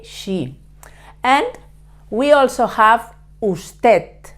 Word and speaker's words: usted: same you have to put the tip of your tongue touching the upper teeth and avoiding to touch the roof of your mouth with your tongue okay usted remember in the third